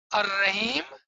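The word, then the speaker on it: الرحيم: Now the Alif and Lam both becomes silent. That is what Imam was explaining. That how is written and how you say it is different. There's a different way of writing it and there's a different way of saying it.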